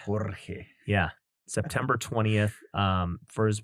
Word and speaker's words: Jorge: You gotta roll your R, bro. Jorge.